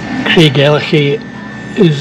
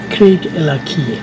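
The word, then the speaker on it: Craigellachie: iron Spike welded the East to the West Craig El is apparently pronounced Craig Eli but it's not it's Craig El trust me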